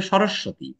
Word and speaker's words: সরস্বতী: হচ্ছে সরস্বতী স্যার উচ্চারণটা সরস্বতী হবে না হ্যাঁ উচ্চারণটা হবে সরস্বতী সরস্বতী হলে দন্তস ব ফলা হবে স্যার কোনটা